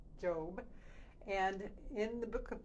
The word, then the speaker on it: Job: The one that's spelled like Job, but pronounced Job.